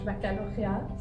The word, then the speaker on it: baccalauréat: In French, baccalauréat.